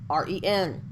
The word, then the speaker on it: rn: the middle so that the word for name in Egyptian which is spelled RN is usually is usually pronounced written R en this does not mean